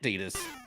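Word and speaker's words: Tidus: I don't care that Titus is pronounced Tetus in Japan. Okay, I found the T-Rex. I found the T-Rex. That one actually is pronounced Tetus in America as well.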